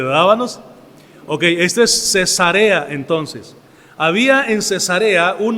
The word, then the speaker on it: Cesarea: Ahora esta palabra Cesarea, así es como se pronuncia, Cesarea, porque usted le dice Cesarea, pues va a ser otra cosa muy diferente, ¿verdad, hermanos? Ok, este es Cesarea entonces.